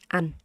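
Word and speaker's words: anh: It's like the word and, right? It looks like the word and, but it's a an.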